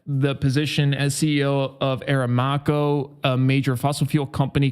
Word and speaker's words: Aramco: find really really interesting Ben W balls says pronounced a ramco a ramco I like a ramco so they can go themselves I call them I call them arameo that's what I call them Marcus says a